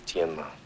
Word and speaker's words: Tienma: Is your name really Tin? No. The correct pronunciation is Tienma.